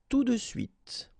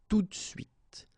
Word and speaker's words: tout de suite: champ, sur le champ, tout de suite, tout de suite, tout de suite. Or then it's also possible to pronounce it like tout de suite, tout de suite.